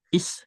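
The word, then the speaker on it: 있: Deong s giga is ini dibacanya bukan it teman-teman tapi is saja ya. Jadi t-nya melebur. Isem nida ada t bertemu dengan huruf pertama s-nya jadi ss ya.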